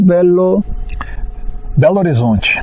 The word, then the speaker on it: Belo Horizonte: How do you say it in Portuguese? Belo Horizonte.